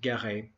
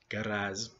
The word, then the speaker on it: Guéret: came from France, and his last name was spelled pronounced Guéret, not Guerrez. And you can actually find his name spelled Garey and Gary on various documents because they just said Garey.